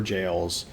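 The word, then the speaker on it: Gaol: so I've learned that these things are pronounced shadow a tree Shadow tree so it's uh deriving from or playing with Old English pronunciation similar to similar to ever jails the g a o l being pronounced jail um so that makes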